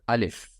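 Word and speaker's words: ألف: Alif. How to say it? Alif.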